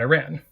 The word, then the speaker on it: Iran: out loud that included place names with variable pronunciations like Iraq Iraq or Iran Iran then I had them do a survey getting